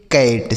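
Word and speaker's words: cat: सी ए टी कैट। सी से क और टी से ट ए का उच्चारण ऐ। यह हो गया कैट।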